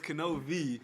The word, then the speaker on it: Knovie: In other words, with my name, the K is pronounced, so K-N, and then V as in Victor.